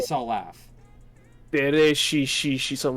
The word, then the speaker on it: Dereshi: Dere she something like that. Dere she. Dere she. Yes. It was gross because it started with a D and it kept going with SH sounds.